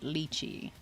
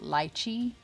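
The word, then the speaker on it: lychee: How do you pronounce it? Liy or Lichi? I am a South African and we pronounce it lii, but I know over here everyone pronounces it ly.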